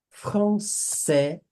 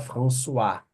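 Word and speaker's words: français: je parla portugu francé Cuidado hein para não falar François Françoa é Francisco não não confundam francé pensa esse Dil aqui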